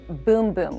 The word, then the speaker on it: Bum Bum: we have the brazilian boom boom cream i know it looks like it says bum bum on the little jar here but in brazil they pronounce it boom boom and trust us